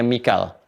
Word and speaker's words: Mikail: Mikail ini di riwayatnya Warash dibacanya Mikail. Ya, di Hafs dibacanya Mikal. Ya. Jibril wa Mikala di dalam Warash, atau bahkan Qalun wa Mikaila.